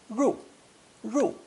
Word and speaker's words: 入: Anyway, this easy character is pronounced fourth tone, ru, ru, and means to go in or to enter.